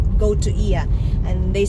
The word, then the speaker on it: Oia: guys it's spelled as it's spelled as oia but with the silent o so they call it so ia is on the north